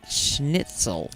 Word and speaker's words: schnitzel: Which is the, how do you say it, schnitzel.